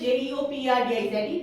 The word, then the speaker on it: jeopardize: The spelling is Jeopardize. The pronunciation is jeopardize.